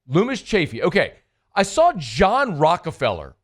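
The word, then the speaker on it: Loomis Chaffee: school that you went to how do you pronounce it uh Lumis chaffy Lumis chaffy okay I saw John Rockefeller went to high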